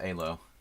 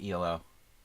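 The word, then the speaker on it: Élő: the ehlo police halo if we say it we pronounced the Hungarian name correctly our pot a low people say below like elo the 80s band Electric Light orchestras that's 70s weird move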